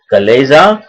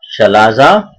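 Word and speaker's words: chalaza: Base is called as कलेजा. इट is also called as शलाजा. So pronunciation different है, अलग अलग. कुछ लोग इसे शलाजा कहते हैं, कुछ कलेजा कहते हैं.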